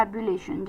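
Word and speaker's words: ebullition: बहुत ज्यादा इमोशन और एक्साइटमेंट से भरपूर हो, उत्साह से, जुनून से भरपूर हो तो उसे हम कहते हैं एबुलेशन।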